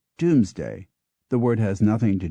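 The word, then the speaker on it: Domesday: was pronounced mood and home rhymed with Gloom which which is why d o m s d a y book is pronounced and sometimes called Doomsday the word has nothing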